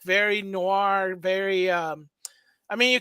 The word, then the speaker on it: noir: by the way you you're not pronouncing the French right I'm not I'm never you saying Noir it's Noir I'm sorry French Noir